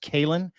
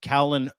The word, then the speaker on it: Caolan: It's It's actually spelled C A O L A N spelled Ken but pronounced Kalin. Kalen.